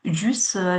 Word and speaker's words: jus: Avec mon petit déjeuner, je bois généralement du jus d'orange ou Jus d'orange. S 是不发音的 jus d'orange ou du multifruit.